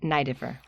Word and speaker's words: Neideffer: matter what so yeah always E before I in German is pronounced I are you German it's